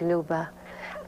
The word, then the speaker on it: Luba: playing a role like Luba am I pronouncing it right yes Lu l Luba means